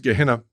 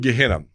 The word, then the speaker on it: Gehenna: these basics, but you have this Greek word pronounced Gehenna that's translated into the word hell.